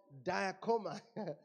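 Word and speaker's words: διέρχομαι: Diakomai. It's pronounced, if you want to pronounce it like it's been spelled, it's spelled D-E-E hyphen, E-R, apostrophe, and then dash, K-O-K-H-O-M, dash, A-H-E-E, diakoma.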